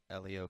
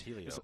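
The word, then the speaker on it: Hélio: He was down there when we were recording some of them this time, and I said it wrong when he was sitting there. It's Helio. I look at it.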